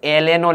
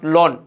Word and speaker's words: ln: অথবা এই লগ ইকে সংক্ষিপ্ত আকারে lnও লেখা যায়, ln, নট লন। অনেকে তোমরা লন বলো, বাট এটা অ্যাকচুয়ালি উচ্চারণ হচ্ছে ln।